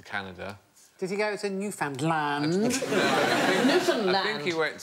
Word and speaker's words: Newfoundland: Newfoundland. No. I'm going to have to shoot you now. No, it isn't the correct pronunciation. Newfoundland. Hey, enough violence on this show. Yeah. Newfoundland is the correct pronunciation, and in 1876, a